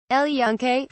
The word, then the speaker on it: El Yunque: about 30 miles west a previously unimaginable sight El Yunque pronounced junk' has been an enormous source of pride